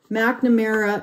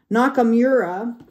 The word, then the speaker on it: Nakamura: cards here um Joel mcamera no I always do that I always say his name wrong Nakamura okay is the artist